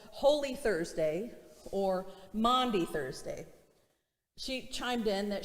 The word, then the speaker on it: Maundy: The pastor in me took over in that moment, and I said, actually, it's pronounced Maundy, not Monday.